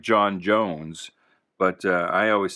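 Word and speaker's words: J'onn J'onzz: stutter i know it's supposed to sound like jon jones but uh i always said it uh john's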